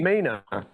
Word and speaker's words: Maina: Myna. Myna. Yes. Is it Myna? Yeah. The A is silent.